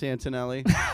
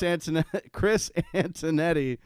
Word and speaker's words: Antonetti: Chris Antonelli. Sorry, I butchered his name. Chris Antonetti.